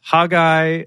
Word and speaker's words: Haggai: right so haggy Waggy also known as hagy or hogi ey those are the two most official pronunciations I could find is hagy or haay ey um anyway here's the